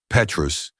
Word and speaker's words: Petrus: Petrus, the T silent, the vowels pure.